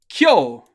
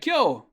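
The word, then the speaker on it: 今日: word for today is kyo yeah great kyo today uh really quickly notice how we do have a k followed directly by a y sound you haven't really seen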